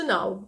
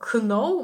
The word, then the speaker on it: know: холодніше холодніше є чи Now знати Зверніть увагу що буквосполучення kn читається як н ми не читаємо know ми читаємо No також ви можете це